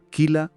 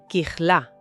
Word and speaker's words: Kijla: Bueno, de hecho, la pronunciación exacta tiene un matiz diferente. La primera es Kijla, con una J gutural fuerte y el acento en la última sílaba.